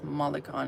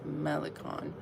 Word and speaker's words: Malikhân: And I've been saying it wrong, saying it wrong the whole time. But it's not Iris Mikon, it's Iris Melon.